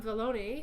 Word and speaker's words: Vallone: So these are from Vallone, who we haven't seen for at least a which year. rhymes with baloney. That's how I remember how to say it.